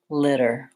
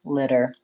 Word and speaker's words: litter: same thing this to these two letter T's make the flap T and it sounds a little bit more like litter litter so I would suggest